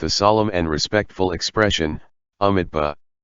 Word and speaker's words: Amitabha: solemn and respectful expression, Amitabha. He had a He province accent and could not pronounce the Mi syllable clearly, so it sounded like an Itabha.